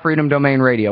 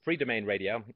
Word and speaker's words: Free Domain Radio: Tell us real quick, for people who aren't familiar, all about Freedom Domain Radio. What's that? It's one syllable less. It's Free Domain Radio.